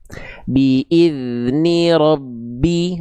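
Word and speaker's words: بإذن ربي: Kalau ada 2 huruf yang kembar seperti ini, itu sebenarnya ada cara baca namanya idgham. Idgham mutamasilain. Jadi bunyi yang awal ini yang harusnya memantul dileburkan aja ke sini. Nah, maka dibacanya gimana? Ba sukunya awal cukup dibaca saja, lalu masuk ke bi-nya.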